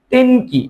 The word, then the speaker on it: 天気: তেনের কাঞ্জিটা এখানে লিখবো, তার সাথে কি উচ্চারণটা হবে? কি? তেন কি, মানে আবহাওয়া।